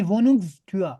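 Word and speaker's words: Wohnungstür: वोनुंग stir stir स्टूर नहीं, वोनुंग स्टूआ।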